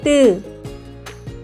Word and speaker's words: 뜨: When pronouncing, 뜨, pronounce 드, while tensing your throat. 뜨, 뜨, 뜨.